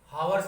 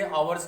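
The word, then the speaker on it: hours: इसको जो है हावर्स नहीं कहेंगे, आवर्स कहेंगे। इसमें एच जो है सेमी वावेल होता है, ये साइलेंट होता है।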